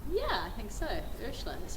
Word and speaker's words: Ursula: Did I pronounce it correctly? Yeah, I think so. Ursula is how I say it.